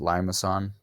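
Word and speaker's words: limaçon: that's by the way that's pronounced limas on all right the the C has a little tail on it so is limas on and you're gonna have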